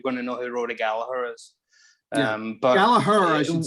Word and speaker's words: Gallagher: to know who Rory Gallagher is. But Gallagher, I should say. That's how you pronounce your name as well, correct? Yeah, it's an Irish name, and the second G is silent. So Gallagher.